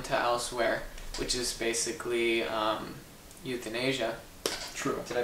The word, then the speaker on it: euthanasia: Yeah, it's called releasing someone to elsewhere, which is basically euthanasia. True. Did I pronounce that right? You did pronounce that right, euthanasia. And we're not talking about young people living in the continent of Asia.